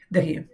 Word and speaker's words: the: जब भी consonant sound हो उसके पहले आर्टिकल द लगा हो तो उसे क्या बोलेंगे? द house द party. जब वोवेल साउंड से स्टार्ट होने वाले वर्ड के पहले द लगा हो तो उसे क्या बोलेंगे? दी पढ़ेंगे।